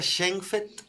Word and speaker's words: Schenfeld: Pero se pronuncia Schenfeld.